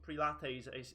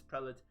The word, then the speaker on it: prelate: now the prelates or the so-called pre-lattes as some people like to call them or prelates obviously the only proper pronunciation is prelit is going to are